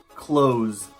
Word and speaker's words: clothes: butcher closes too close now the pronunciation for this word in American English is the same as the word clothes CL OS e like closed the door but I often hear